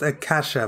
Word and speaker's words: Acacia: To the right, you have Acacia Mall, pronounced Acacia by locals.